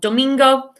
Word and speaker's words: domingo: and etc., we've got domingo, which is Sunday. And I've put a picture here of a flamingo because I think of domingo, flamingo. It rhymes, so that helps me associate that word.